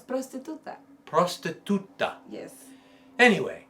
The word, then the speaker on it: prostituta: It's prostituta.